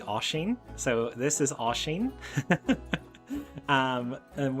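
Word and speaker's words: Oisín: So we're going to start off with Oisin, which might look like Oisin, but it is actually Oisin.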